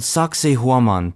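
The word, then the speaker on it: Sacsayhuamán: It's called Saksaywaman, pronounced like sexy woman.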